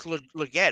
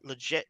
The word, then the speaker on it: Legette: only receiver he had was Legette over legit Legette Legette he say his